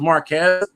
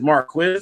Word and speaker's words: Marquis: I thought it was Marquez, but it's Marquis, right?